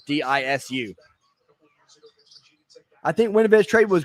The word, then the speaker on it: Disu: I'm not sure how you pronounce his last name. It's Disu.